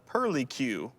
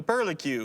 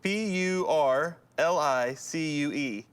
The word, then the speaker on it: purlicue: where on your body would you find the pearly q hand foot or mouth the pearly q the pearly cube where do you find the pearly q p u r l i c u e the pearly q hand foot or mouth i'm